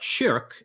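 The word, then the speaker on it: شرك: So the word shirk, written the same way but pronounced shirk in Arabic, means something like partner or associating a partner along with God.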